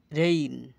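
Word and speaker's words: reign: কারণে আইন হয়েছে ডিজাইন ডিজাইন রিজাইন পদত্যাগ করা রেইন রাজত্ব রেইন রাজত্ব ফেইন ভান করা উদ্ভাবন ভবন করা এজিন এসাইন এসাইন আইজিএন এর উচ্চারণ হচ্ছে আইন এসাইন দায়িত্ব গ্রহণ করা ছয়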